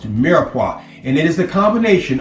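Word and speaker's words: mirepoix: if I don't I am sorry but it's pronounced miraa and it is the combination of onions celery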